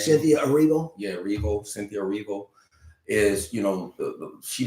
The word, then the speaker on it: Erivo: My thing with Enrivo, is that how you say her name? Cynthia Erivo.